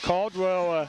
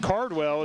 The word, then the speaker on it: Caldwell: They had Caldwell again. I believe that's pronounced Cardwell, is again on the tackle at time.